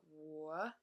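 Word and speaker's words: 我: some basic words so so third tone is wo that's me my I myself that's how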